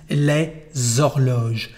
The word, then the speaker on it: les horloges: And now the pronunciation is les horloges. Les horloges, you can hear there is a liaison between the two words because the H at the beginning of the word allows this liaison.